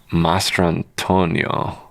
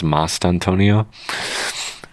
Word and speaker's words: Mastrantonio: Mastrantonio. But I think the R is silent, so it's Mastantonio.